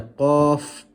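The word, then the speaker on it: ق: The letter qaf, this one here with 2 dots, originates from the back of the tongue when touching the palate. The back of the tongue when touching the palate, the letter qaf is pronounced.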